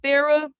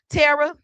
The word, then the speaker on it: Tara: And Miss Thera, and I know I said your name wrong, Miss Tara. Tara. Tara. That's what it is.